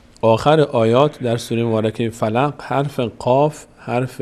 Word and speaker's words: فلق: اعوذ برب الفلق فلق این قاف رو دقت کنید فلق قل قل اعوذ برب